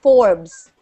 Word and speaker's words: Forbes: Oh, it's pronounced Forbes.